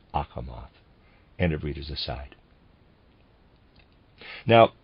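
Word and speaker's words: Achamoth: a quest for the spiritual readers aside ahmath is spelled a c h a m o t h akamath and of readers aside now this world imagination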